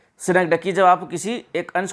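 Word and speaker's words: synecdoche: तो जब उसको बोलते दोस्तों सिनेक्टिकी, जब आप सिनेक्डकी इसका प्रोनाउंसिएशन है सिनेक्डकी, जब आप किसी एक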